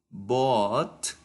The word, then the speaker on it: bought: Porque la OU, esta combinación de letras, se pronuncia como una O.